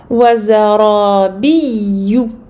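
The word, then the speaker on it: وزرابي: Wazarabiyu. Wazarabiyu. Donc ici. Deux temps pour le ra, mufakhama en plus. Biyu. Biyu. Donc ici, on marque les deux yeux. Attention à bien prononcer la shadda du yeux.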